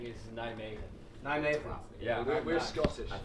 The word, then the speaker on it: Nijmegen: Nijmegen. We've been saying Nijmegen. But we've been told that if you're English, it's okay to say Nijmegen.